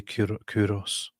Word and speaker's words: Kyros: So, in Persian you say Kurosh, and Israel Jews say Koresh, and Greeks Koresh? say Kyros.